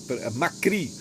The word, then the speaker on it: Macri: pronunciação francesa, né? Macri, né?